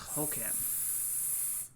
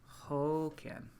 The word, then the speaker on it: Håkan: It's Hoken. Hoken. Håkan? Am I closer?